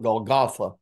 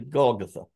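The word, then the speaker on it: Golgotha: his crucifixion many times we'll mispronounce that and call it golg gotha it's really golgatha and um I might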